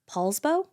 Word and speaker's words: Poulsbo: the coastal city of Poulsbo I think is how you say it I love it I